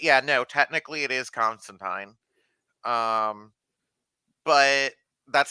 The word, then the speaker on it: Constantine: they actually pronounce it constantine in this show which is the actual proper like british pronunciation um and that's really